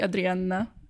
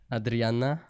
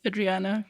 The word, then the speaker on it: Adrianna: which one is it if you want to pronounce it the Polish way you would say Adriana Adriana because it's double n but wow double n